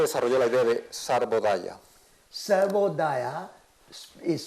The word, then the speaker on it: Sarvodaya: Sarvodaya is spelled S-A-R-V-O-D-A-Y-A.